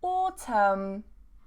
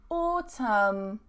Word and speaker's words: autumn: Silent N. So we have autumn, autumn, dam, dam, column, column, and hymn, hymn.